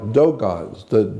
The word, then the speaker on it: Dogon: Yeah, like Dogons. It's spelled D-O-G-O-N. Dogon, not Dagon.